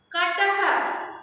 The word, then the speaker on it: कटः: कटः। मैट। कटः क्या है? ह लिखा है? नहीं लिखा है, क्यों? यहाँ विसर्ग को ह की तरह उच्चारण किया जा रहा है। कटः।